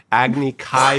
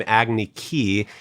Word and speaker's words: Agni Kai: iro was pronounced iro Agni Kai became agniki and even the word